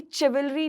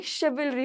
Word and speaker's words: chivalry: और अक्सर हम इंडियनाइज वे में अलग जो वर्ड अभी मैं बोलने वाली हूँ जो कि है CHIVALRY, ये चिवलरी नहीं होगा, ये शिवलरी हो जाता है।